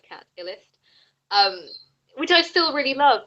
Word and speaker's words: Catillest: So that's spelled CATILLEST, like Cat Illist, which I still really love, but I have kind of hit pause on that project.